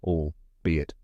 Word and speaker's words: albeit: and finally it just like like the word it now say it with me all be it one more time allbe